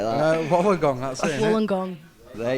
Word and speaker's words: Wollongong: Wollongong. Even I know they don't say it like that. Wollongong, that's it. Innit? Wollongong. There you go. Wool, like a woolen jumper, Wollongong.